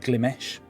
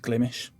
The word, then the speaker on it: Glimesh: on this website called glimish now i was pronouncing it glimesh because whenever i see the name um i